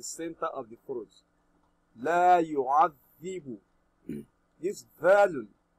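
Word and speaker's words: يُعَذِّبُ: La yu'adhibu. This dhalun. You read your dhalun by placing the tip of the tongue under the edge of your front teeth. Then dhalun is pronounced correctly. La yu'adhibu.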